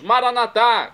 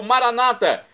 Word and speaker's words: Maranata: aramaico dialeto de Jesus maranat como dizemos nós católicos ou Maranata Como di dizem nossos irmãos separados os evangélicos ou protestantes não importa a pronúncia o significado é o mesmo vinde Senhor Jesus um